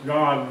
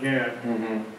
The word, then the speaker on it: Gad: an interesting now God Gad is pronounced God not Gad but find out who